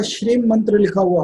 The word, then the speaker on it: श्रीम: भी अगर लिखा हो, तो श्रीम प्रोनाउंस करते हैं, श्रेय के ऊपर बड़ी की मात्रा, अंकी बिंदी, श्रीम बोलते हैं।